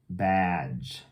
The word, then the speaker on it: badge: at it bad badge badge so this e is silent but it's got to be there to make the G still the just sound badge okay next word might